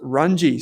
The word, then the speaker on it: Runge: So it's pronounced Runge, says Stuart.